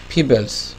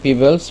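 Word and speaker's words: pebble: আচ্ছা ফিবেলস এটা এটা হবে আসলে পিবেল।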